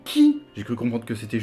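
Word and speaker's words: χ: On a aussi les jeux mobiles avec des gros X, mais ça se prononce pas X, mais qui.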